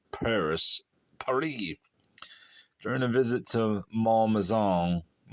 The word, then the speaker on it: Malmaison: during a visit to Malmaison. Rhymes with Paul Mazan. During a visit to Malmaison, whilst Josephine was taking